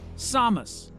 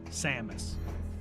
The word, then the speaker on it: Samus: The announcer pronounces it Samus, not Samos. That is not to say that saying Samus is wrong.